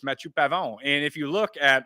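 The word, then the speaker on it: Matthieu Pavon: right right that's how that's how you say it it's matu pavon and if you look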